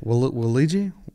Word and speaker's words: Waluigi: Waluigi. Waluigi. Because it's like Wario. Oh.